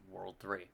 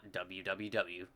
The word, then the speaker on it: World 3: The Rise and yes it is pronounced World 3 not www it says the world